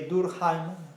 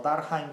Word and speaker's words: Durkheim: Simplemente para desautorizar o para desacreditar las tesis que Durkheim, o Durkheim, como se quiera pronunciar a la inglesa o la alemana, tiene sobre el suicidio, ¿no?